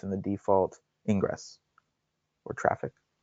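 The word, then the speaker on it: Traefik: the default ingress or traffic? Traffic. Yeah, I know they spell it funny, but it's just pronounced traffic.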